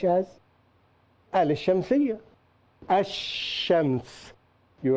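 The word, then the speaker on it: شمس: are some difficulties here some letters are written and are not pronounced such as elysium see you as shams you right Alif Lam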